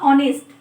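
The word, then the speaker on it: honest: ऑनेस्ट में ओ आ रहा है ना, क्योंकि इसमें एच क्या होता है ना, एच साइलेंट रहता है, ठीक है, हम एच का प्रोनाउंसिएशन नहीं करते हैं।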